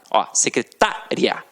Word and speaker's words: secretária: e você tem secretária E você tem secretaria e aí já é o que já é diferente já não é mais uma paroxítona terminada em ditongo aí você já tem